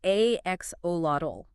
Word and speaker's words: axolotl: It's axolotl.